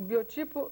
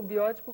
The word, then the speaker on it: biótipo: Então, tem que haver uma realidade de aceitação do biótipo, quer dizer, o biotipo ou biótipo, como se fala mais geralmente, aquilo que é dado pelos genes, biologicamente.